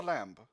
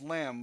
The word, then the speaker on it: lamb: I am on the lamb. That's lamb without the B. The B in lamb is silent here.